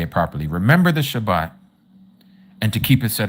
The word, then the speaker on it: Shabbat: Remember the Shabbat and to keep it set apart.